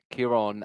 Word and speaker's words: Ciarán: Now, for the record, I do know how to pronounce Ciarán because my brother is called Ciarán, so I've been talking about Ciarán my entire life.